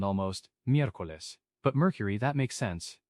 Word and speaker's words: miércoles: Wednesday is miércoles, M-I-E-R-C-O-L-E-S, pronounced miércoles. This one's a little longer, but it's linked to Mercury, Mercury's day, so miércoles. Whoa, miércoles. That E combination, that's where I used to trip up a lot.